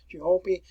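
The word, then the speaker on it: Ciompi: We had another one here, which was called the Florentine Chiampi, and that's where you want to pronounce that, Chiampi.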